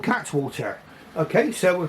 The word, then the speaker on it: Cattewater: It's got an E in the middle, but Cattewater, it looks like it's spelled like, but he assures me it's pronounced Cattewater. Okay, so what I do